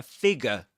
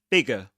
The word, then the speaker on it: figure: A figure. So this is a figure. Bigger. Figure. You don't say figure. A figure, but a figure. Figure. You don't pronounce that R sound or that R letter.